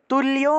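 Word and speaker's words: तुल्य: তুল্য লয়ের সাথে জফলা থাকায় লিও উচ্চারণ, তুল্য নিন্দা স্তুতির মৌনি, তুল্য নিন্দা স্তুতির মৌনি।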